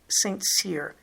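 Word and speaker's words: St. Cyr: about i mentioned the sebastian saintsir that's how an american would say it i suspect it's meant to be sebastian sincere but it is spelled his last name is spelled the abbreviation for saint or street s t period and then capital c y r these are kind of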